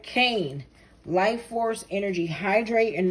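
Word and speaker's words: Kāne: was important all right Kane life force energy hydrate and nourish your body good health is returning oh it's cane Cain pronounced cop no sorry Kanye forgive me Kanye is a major Hawaiian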